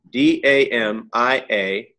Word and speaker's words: Damiana: Could you Damiana? Yeah. D-A-M-A. Oh, sorry. D-A-M-I-A-N-A. Damiana. Oh, thank you. Just like it sounds. If you spoke Spanish, if you speak Spanish, it's just like you'd spell it in Spanish.